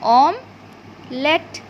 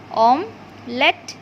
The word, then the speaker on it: omelette: Omelette. OM ইটা silent হবে, LET omelette, আর TE এটাও silent হবে।